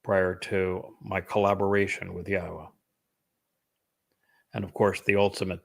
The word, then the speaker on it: Yahowah: I'm the first to correctly not only pronounce Yahwa's name, but to prove that the pronunciation of his name as Yahwa is accurate and reintroduce you to your God.